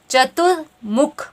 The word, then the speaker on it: चतुर्मुख: चतुर्मुख, चतुर्मुख मतलब कि त में भी छोटे ऊ की मात्रा होगी आपकी और म में भी छोटे ऊ की मात्रा होगी।